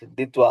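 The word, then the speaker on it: Ditwah: না মনে হয় উচ্চারণ না স্পেলিংটাই ভুল স্পেলিংটাই ভুল না দ্বিত ডি আই টি ডব্লিউ এইচ দ্বিতুয়া হ্যাঁ হ্যাঁ হ্যাঁ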